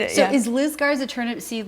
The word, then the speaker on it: Turnipseed: to Turnipseed which it's it's everybody gets that name you know pronounce different ways turns beat Oh see oh that's the only part you know that I got right was Turnipseed yes yes so that